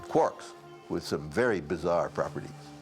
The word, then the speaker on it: quark: how to spell it I thought maybe K wo RK but then perusing James Joyce's Finnegan's Wake as I do once in a while I noticed this the line three quarks for muster mark and I thought three after all that's very important number four quarks and maybe I should spell it quar k while guilmon believed quarks